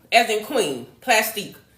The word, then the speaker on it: Plastiq: Q as in Queen, Plastique. So it's spelled like plastic, but instead of the C, there's a Q at the end, okay?